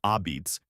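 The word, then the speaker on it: apizza: and is the reason the word a pizza, pronounced ah-beets, exists in the English language.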